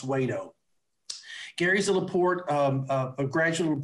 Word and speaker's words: Wedow: his name is gary wayto it's w-e-d-o-w but it's pronounced wait-o gary's a laporte a